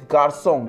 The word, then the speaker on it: garçon: C with the cedilla is pronounced like an S. For example, garçon. C put this accent, garçon. Pronunciation is garçon.